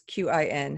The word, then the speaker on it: Qin: It's Qin.